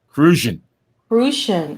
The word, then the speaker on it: Crucian: Crucian.